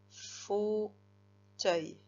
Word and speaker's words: fauteuil: La syllabe faux, donc, qui s'écrit F-A-U, puisque je te disais que le O, c'était en 2 lettres. Et teuil, T-E-U, qui fait bien le son T.